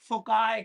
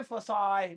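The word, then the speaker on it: foci: एक सिंगल को फोकस कहते हैं, लेकिन एक से ज्यादा को फोकाई कहते हैं। अब आप देखिए, लिखा भी फोसी फोकी नहीं, इसकी प्रोनाउंसिएशन भी अलग है, फोकाई। और हाई से फसाई भी पढ़ते हैं। वो अमेरिकन ब्रिटिश इंग्लिश में फर्क है, आप फोकाई बोल सकते हैं, फोकाई।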